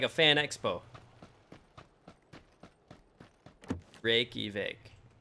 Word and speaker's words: Reykjavik: Reykjavik. Reykjavik. Reykjavik. Like Rick. Rick-a-vic.